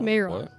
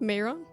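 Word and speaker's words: Mairon: a name for this, and I want to make sure I pronounce it right. Just an anagram of Anatar. No, Tanamar. Sauron? Mayron. What? What? Mayron?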